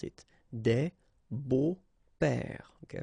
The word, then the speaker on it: beaux-pères: Des beaux-pères, okay? Remember the S, but then it's silent.